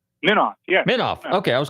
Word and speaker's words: Minoff: Eric, did I pronounce it right? Minoff, yeah.